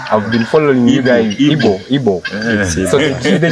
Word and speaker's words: Igbo: Igbo. Yeah. So the G is silent, right? No, G is not silent. In Igbo alphabet, we have G.